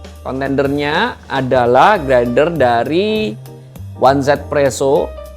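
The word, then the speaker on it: 1Zpresso: nya adalah grinder dari Onez Presso yang bacanya adalah Easy Przo.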